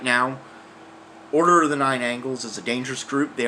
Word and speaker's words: Order of the Nine Angles: of the Nine Angles, they're mispronouncing them in the news, calling it Order of the Nine Angels. It's not Order of the Nine Angels. It's Order of the Nine Angles, or O9A, or O9A.